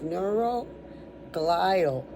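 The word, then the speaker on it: neuroglial: Okay, this one's neuro glile. So it's neuro neur o which is about the brain you know and and the rest of that word is l i a l like al at the end.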